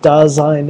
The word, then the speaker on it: Dasein: It's uh pronounced daine and and there isn't anybody who ever gets it right. It's actually a a term from uh from from German philosophy. So it's a German word.